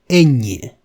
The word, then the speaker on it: ñ: language, its little baby, the letter ñ. Just pay attention to its pronunciation and try repeating it several times. You will see it's not difficult to pronounce at all.